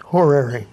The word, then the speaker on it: horary: I said that right horary yes horary would be a British pronunciation Americans pretend to say